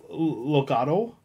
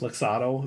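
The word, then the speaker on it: Loxatl: So these are Loxodl. I believe it's pronounced. Oh, wow. Loxodl. It's like L-O-X-A-T. It's kind of like axolotl. But like without the axe? Loxodl, yeah.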